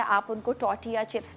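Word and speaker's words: tortilla: आप उनको टॉर्टिया chips भी कह सकते हैं, जिसमें टी साइलेंट होता है, कुछ लोग टॉर्टिला बोलते हैं बट टॉर्टिला नहीं, टॉर्टिया चिप्स भी होते हैं।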